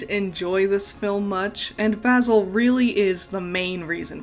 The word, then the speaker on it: Basil: story all right so in America we pronounce it basil but in the movie It's basil and I need to remind myself to call him basil so data look at